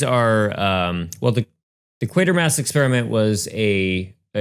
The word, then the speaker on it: Quatermass: I thought it was quarter mass and you just wrote it wrong but it's actually quater mass. Okay. That's how they say it and it that's not stopping me.